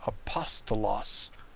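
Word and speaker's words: ἀπόστολος: We know that the nominative singular form of the noun apostolos, that the accent is on the antepenult.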